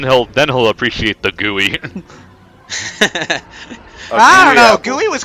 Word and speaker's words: GUI: going into hardcore nerd territory and it's actually pronounced gooey is that GUI yeah well cuz I'm thinking